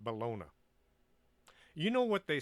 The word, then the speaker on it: Bologna: this walking the earth i know the name is actually pronounced bologna but to me it sounds too much like bologna so i'll just pronounce it bologna you know what they